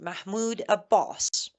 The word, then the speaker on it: Mahmoud Abbas: pictures with Trump, was Mahmoud Abbas, or better pronounced Mahmoud Abbas, the so-called leader of Palestine.